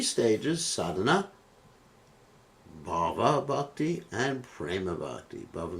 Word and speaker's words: bhava: So both sadhana bhakti and prema bhakti have some bhava in them. What do we say? Bhava. You have to be careful to pronounce the word properly, not bhav.